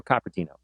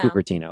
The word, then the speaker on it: Cupertino: Is it Cupertino or Coppertino? Yeah, in Cupertino. Cupertino.